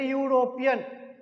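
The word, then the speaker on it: European: यूरोपियन है ना तो यूरोपियन यानी य से उच्चारण हो रहा तो उसके पहले हम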